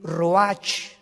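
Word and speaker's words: רוח: y exhaló isaac el roach así como suena se pronuncia la ch en hebreo como j se le salió y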